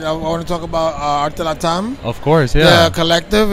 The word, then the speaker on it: ArteLatAm: How do you pronounce it? ArteLatAm. ArteLatAm.